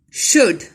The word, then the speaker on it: should: Should. L is silent.